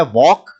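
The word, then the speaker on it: walk: बाद next word है वॉक वॉक का मतलब होता है चलना और उसमें एल साइलेंट रहे हैं राइट रिंग शब्द फॉर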